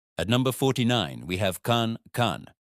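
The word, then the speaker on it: 看: At number 49, we have khan. This sounds like the con in conscious.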